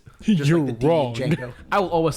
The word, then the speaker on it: Django: the E is silent Django I will always say d Django I know the D is silent but D Django just